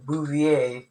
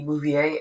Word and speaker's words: Bouvier: actually it's actually um pronounced with a French accent like Bouvier.